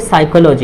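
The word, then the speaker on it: psychology: अब ये एस से पहले है ये पी, तो पी क्या हो जाएगा आपका, साइलेंट हो जाएगा। क्या हो जाएगा, साइलेंट हो जाएगा। तो ये क्या हो जाएगा, ये साइकोलॉजी हो जाएगा।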